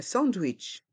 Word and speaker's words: sandwich: macarons des macarons un sandwich un switch les lettres a et n se prononcent de la façon française en S wit se prononce de la façon anglaise wi un sandwich un sandwich